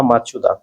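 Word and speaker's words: Machado: 2025 সালে শান্তিতে নোবেল বিজয়ী মারিয়া করিনা মাচুদা কোন দেশের নাগরিক? নামটা একটুখানি সাবধানে উচ্চারণ করতে হবে। মারিয়া করিনা মাচাদু।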